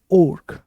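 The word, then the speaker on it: ochre: मिलना शुरू होते हैं इसे कहा जाता है ओर्क ओक साइप के आपको वेयर वेयर मतलब होता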